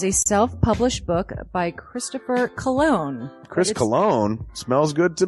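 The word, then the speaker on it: Colon: it it is a self-published book by Christopher cologne Chris cologne smells good to me look at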